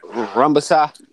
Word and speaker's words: Rungvisai: How you pronounce his name, man? Rungvisai.